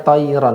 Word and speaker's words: طيرا: Di sini ro tebal apa tipis, Pak? Yang mana Ustaz? Toiron. Tayron. Tebal Ustaz. Nah, tebal. Tadi bacanya toiron. Ini betul toiron.